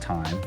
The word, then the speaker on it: thyme: I believe it's pronounced time, but everyone has their own means and methods of saying their name.